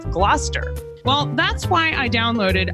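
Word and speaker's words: Gloucester: where Shakespeare was writing, I often mispronounced some of the words that you find in the plays. Like originally, I said glalcaster instead of Glouester.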